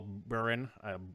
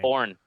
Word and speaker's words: Bourne: can't I'm not sure how do you pronounce his last name Bourne Bourne that could be spell just like Bourne uh yeah it is spelled just like Jason Bourne uh yeah didn't even